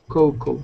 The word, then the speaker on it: cocoa: extract okay and just we say coco coco so we do not in english we do not pronounce the a so coco and with these three